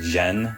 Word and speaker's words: Jeanne: I've been calling her Jean this whole time, but I think it's actually pronounced Jen.